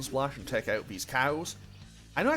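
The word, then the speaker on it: Kau: Okay, let's just cast Bane Splash and take out these cows. I know I said it in the previous episode, but it's still weird fighting enemies called cow. I know it is spelled like K-A-U, but it is a little bit strange too.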